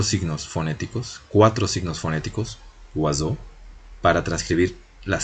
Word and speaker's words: oiseau: vemos que se transcribe oiseau, tenemos una facilidad para pronunciarlo, ¿no? Son 4 fonemas, entonces, 4 fonemas articulados.